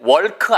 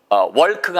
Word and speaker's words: walk: 절대 walk 아니에요. L이 묵음입니다. 그래서 여러분 이게 L이 walk가 아니고 walk예요. 그러니까 L이 없는 대신에 길게 발음하셔야 돼요.